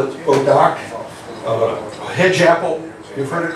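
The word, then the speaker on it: bois d'arc: Bodoc is a French word for bow wood, because they use that a lot in archery deal. Okay? Bodoc. How do you spell it? B-O-I-S-D-A-R-C.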